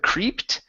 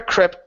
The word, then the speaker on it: crept: Next is the word crept instead of creeped. Okay, this is a short E. Sarah crept towards the door.